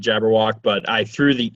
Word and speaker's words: Jabberwock: Well, you would pronounce it Jabberwock, but I threw the E in there just because when I went to go make a profile, it was taken.